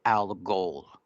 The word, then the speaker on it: Algol: And there's a star that's called Kaput Al Ghul, right? Now, this star is the name Al Ghul. It's spelled Algol. Kaput is Caput, and Al Ghul is Algol.